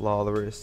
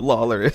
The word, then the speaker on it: Lawlorus: Shout out Lawlorus, even though I've never talked to him. But his name rhymes with Walrus.